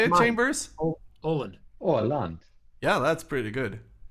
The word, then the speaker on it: Åland: Oland. Orland. Yeah, that's pretty good. You, Mano? Oland. Alan. Oland. Alan. It's Åland.